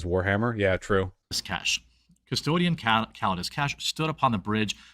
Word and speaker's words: Calidus: I honestly, with his pronunciation skills, I don't blame him. I mean, Taravalia Kesh isn't very difficult there. Like that's like Anglo pronunciation logic right there. But okay, yeah, you can't. Like, all right, you know, whatever. Like Calades was the hardest part.